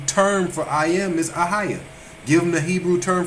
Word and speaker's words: Ahayah: And it's Hebrews 1961, and it is Ahiah. Spell it for him.